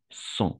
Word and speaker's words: sens: Je me sens, pas sens, son, tout simplement son. Euh, EN, on va prononcer comme un O, d'accord?